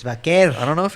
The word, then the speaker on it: Vaquer: Next up, we have Stephanie Vaquer versus Mercedes Moné. Vaquer? Yeah, I know, right? Excalibur and Shivani have been saying, Stephanie Vaquer. And then Excalibur's been saying, Stephanie Vaquer. It's Vaquer.